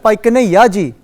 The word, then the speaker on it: Bhai Kanhaiya Ji: excellent who said that that's the right way to pronounce it say again what excellent by kane yaji okay so can anybody